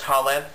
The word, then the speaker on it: Khaled: And that is, Thousand Splendid Suns by Khaled Hosseini. Just a little tip, you don't say his name, you don't pronounce the K in his name, it's just Khaled, just for your information.